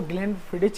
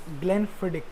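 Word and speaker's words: Glenfiddich: सबसे पहली बात कि जो लोग हाँ इसको ग्लेनफिडिच कहते हैं, वो मेनली ग्लेनफिडिच नहीं होती, इट इज़ ग्लेनफिडिक, exact pronunciation है वो ग्लेनफिडिक है।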